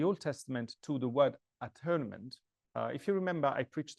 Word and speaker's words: atonement: And I said several times that the word atonement should be probably pronounced at-one-ment, because it comes from the idea that it is that which makes one.